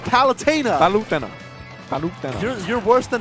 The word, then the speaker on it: Palutena: the Devon please is palitana it's palutena Fountaine where's the I where in game it is pronounced palutena by lieutenant you're worse